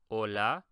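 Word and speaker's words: hola: now focus on this the H is silent pronounce this like an O and bone this like a a and father or a and father Ola and then lastly pronounce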